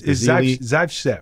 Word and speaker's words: Zaitsev: I can't pronounce his last name. It's Zaitsev.